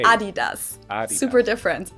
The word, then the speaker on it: Adidas: were referring to because they usually pronounce it Adidas and in Germany we say Adidas because the accent goes to the a Adidas Adas super different it's